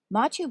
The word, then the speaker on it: Machu Picchu: counterpoint the royal treatment machu picchu was a royal estate machu picchu pronounced ma-chu was a city that